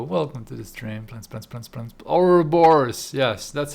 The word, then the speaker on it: Ouroboros: Ouroboros. Yes, that's how you say it. Ouroboros.